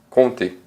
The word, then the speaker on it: compter: O P que você vê aqui, ele está aí só pela zoeira, ele não é pronunciado, on dit compter.